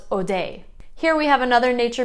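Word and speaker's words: Hodei: it seems to be mostly spelled with an h but it can also be spelled without the h either way it's pronounced odai here we have another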